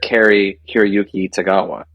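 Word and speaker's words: Cary-Hiroyuki Tagawa: set for a day we had um and pronounce his name correctly we had Mr Carrie kirayuki tagawa that is accurate actually yes yeah so you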